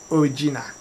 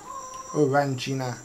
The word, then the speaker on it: Orangina: Origina. Orangina. I said it wrong.